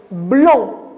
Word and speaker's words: blond: grands regardez ce bonhomme là quelle couleur dorée blond blanc est-ce que j'ai prononcé la lettre des noms maîtresse bravo mais